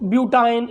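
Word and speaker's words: butyne: से, जैसे एथाइन, ठीक है, जैसे प्रोपाइन, जैसे ब्यूटाइन, इस तरह से हम उसको प्रोनाउंस करेंगे।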